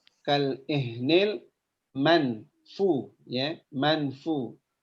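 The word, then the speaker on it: مَنْفُوش: Jadi dibacanya kal ihnil manfu, ya, manfu. Nah, untuk membaca ikhfa di sini ada yang membaca dengan manfu, ya, bukan mang. Jadi bukan eng, ya, tapi samar-samar, suara nun matinya samar-samar.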